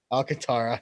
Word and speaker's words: Alcantara: Alcantara, not very good with names like that.